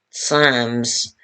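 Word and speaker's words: Tsams: Buddhist Buryats also attend Sams, which is spelled T-S-A-M-S, Sams, which are festivals held at the Datsans, which temples.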